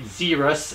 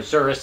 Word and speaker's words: Xerus: child has heard of a zerus as they would see it call it or service as it's actually pronounced but they have probably